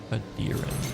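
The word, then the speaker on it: Aedyran: Adiran, that's how you say it.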